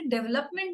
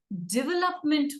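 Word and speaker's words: development: अरे डेवलपमेंट नहीं हुआ है, डेवलपमेंट हुआ है. DEVE लिखते हैं लेकिन प्रोनाउंस हम DI करते हैं, डेवलपमेंट.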